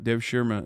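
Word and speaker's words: Devşirme: No, I think it's Dev Shirma. Dev Shirma is how they say it.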